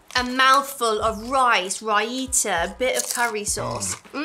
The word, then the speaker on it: raita: like I can taste raita. If you don't have curry, over here, curry is served with like mango chutney, raita, is that how you say it? Yeah. Which is like a creamy dip, and it's absolutely amazing.